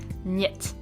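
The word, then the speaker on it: niet: do yet yes and that's how we pronounce it yet I'm not sure about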